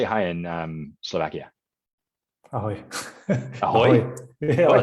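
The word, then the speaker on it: Ahoj: Ahoy.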